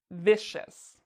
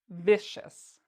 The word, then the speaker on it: vicious: does that mean that means we need to pronounce c-i-o-u-s like chess vicious vicious sharks are vicious um okay so that's an